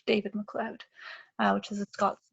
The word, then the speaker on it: MacLeod: name, which is actually MacLeod. It's actually how it is spelled, just typed it up there. But his kind of nickname was Cloud because it sounds like cloud, MacLeod.